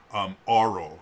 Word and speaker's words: aural: There was visual learning, there's auditory or oral learning, and oral not meaning O-R-A-L, aural, I guess would be the correct pronunciation. Aural learning, A-U-R-A-L, meaning auditory.